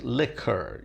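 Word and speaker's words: likker: word liquor, I mean, it's spelled L-I-K-K-E-R, so it looks like lick, like pot licking, but that's not it. It's liquor, like it's a misspelling, if you like, of L-I-Q-U-O-R, and it comes from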